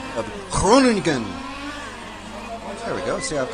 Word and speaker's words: Groningen: We got the quarterfinal A here in Groningen, Netherlands, at the Real 80 Model Car Club.